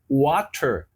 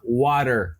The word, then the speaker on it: water: exemplo dos Estados Unidos tem o chamado Flap te que por exemplo e algumas palavras esse T vira como fosse a pronúncia de um d ou pra gente um R por exemplo water eles vão falar Water Water quer dizer é um D pros caras mas pra gente é um rzinho ó water repete aí ó